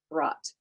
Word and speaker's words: brought: Like phonemically or phonologically, we can say brought, one syllable. In addition to that, though, it has b, r, ah, t for phonemes. It also has, well, lots of letters, doesn't it? B, R, O, U, G, H, T.